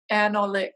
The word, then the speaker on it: Anolik: In 2017, she was awarded the Jewish Book Arts Award by Isaac Anolik Foundation. Did I pronounce that correctly? Yeah, right. I did.